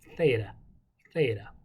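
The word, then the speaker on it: θ: greeks do it then take the back of your tongue and say theta theta but that's your th practice it with me theta theta c is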